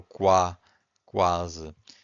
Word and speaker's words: quase: Because here we can hear the U. The U is not silent. But if you have Q-U-E, the U is silent. Quente. If you have Q-U-I, the U is also silent. Quinto. But if you have Q-U-A, that's in this case you can hear the U, right? So quase.